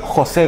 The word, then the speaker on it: José: Con acento en la O. José.